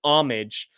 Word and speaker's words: homage: we go it depends when you pronounce the h it sounds like homy and then I think